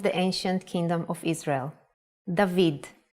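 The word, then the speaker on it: דוד: famous king of the ancient kingdom of israel dahveed it's written with two ballot and one valve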